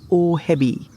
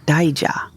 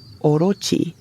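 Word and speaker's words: 大蛇: The characters for big snake in Japanese are not pronounced ohebi, like I thought, but daija.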